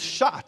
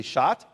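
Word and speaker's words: sha'at: And the word appointed is Shat. He appointed. Say Shat.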